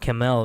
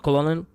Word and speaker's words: colonel: You know, colonal is pronounced camel in American English. Pretty sure in British English, too. Camel. Not colonal.